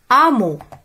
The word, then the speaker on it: hameau: Hameau. Hameau. Alors, je découvre hameau, haricot, haricot, hôpital, hôpital. J'observe. Alors, H ne se prononce pas. Yani ma katntaqch. Ketkteb walakin ma katntaqch.